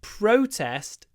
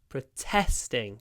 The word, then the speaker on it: protest: people attended the protest so the stress is on the first syllable Pro protest don't miss the W proest protest protest the protest but when it's a verb protesting the stress is on the second syllable they are protesting against the new law protesting protesting so there's a